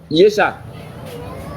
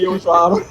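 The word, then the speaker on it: Yeshua: Ça se prononce comment? Yesha.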